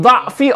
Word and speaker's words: ضَعْف: Wa min dha'fi or min dha'fi ta'lif. Or from dha'fu ta'lif, it can be either dha'f or dha'f. Both ways you can pronounce it.